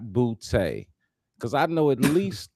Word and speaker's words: Boutte: I got to think that they all can, and they pronounce it Boutte, Mm-hmm. Boutte, All right. Yep. I not knew you go booty.